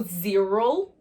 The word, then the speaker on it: zero: Então aí, ó, o zero, vai repetindo aí, hein? Com esse Z como se fosse o som da abelha e o U no final.